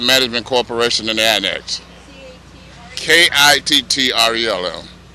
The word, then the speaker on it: Kittrell: corporation in the annex k-i-t-t-r-e-l-l Kittrell Kittrell k-i-t-t-r-e-l-l pronounce it like a spell hi wow beautiful day